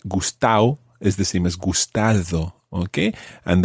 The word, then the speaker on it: gustado: is the same as gustado, okay? And the D sound in there is the way it's written and often it's pronounced as gustao. Gustao.